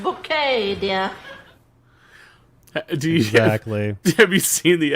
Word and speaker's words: Bucket: name again please bouquet uh that's spelled b-u-c-k-e-t bucket oh yes we have a bucket pronounced bouquet dear have you seen